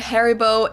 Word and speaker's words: Haribo: Maybe not everyone knew that Haribo is actually German. We pronounce it Hari. Haribo.